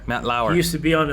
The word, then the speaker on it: Matt Lauer: say name his name michie matt l l-a-u-r matt lauer matt lauer he used to be on a what is